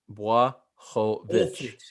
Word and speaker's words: Blachowicz: It's time to start pronouncing it the correct way. Yeah, Blachowicz.